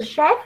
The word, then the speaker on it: chef: Nha Phương nha, chú ý cho cô cái từ chef nha. Cái từ đó đọc khó vì CH mà đọc là sờ.